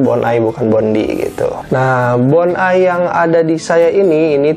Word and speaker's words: Bondi: Ini nih, Bonai, ditulisnya mah Bondi ya, tapi dibacanya Bonai.